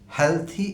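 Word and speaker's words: healthy: আমি জানি আমাদের দেশের কোটি কোটি মানুষ এই দুটো শব্দকে হেলদি এবং আনহেলদি বলেন। সো আমি সেটি বলি না, কারণ আমি পড়াই, তো আমি একজন ছোটোখাটো শিক্ষক, ছাত্রদের শুদ্ধটি শেখাবার চেষ্টা করি। তো ডিকশনারি সিদ্ধ উচ্চারণগুলো হলো হেলথি এবং আনহেলথি। ডিকশনারিতে হেলদি বা আনহেলদি বলতে কোনো উচ্চারণ নেই।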